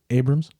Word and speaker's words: Abrahams: Uh Jim Abrahams. Abrams. Whatever. It's spelled Abraham. So, you know, if he wants it said a different way, spell your name differently.